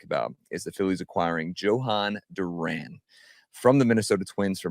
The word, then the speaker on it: Jhoan Duran: Uh but we're going to go with Johan Duran.